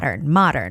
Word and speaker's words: modern: Modern, it's not modern, it's modern. Like when we say mother, mom, the O has more like an A sound, not O sound. So it's modern.